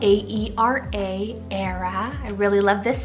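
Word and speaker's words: Aera: I have the name Era, spelled A-E-R-A, Era.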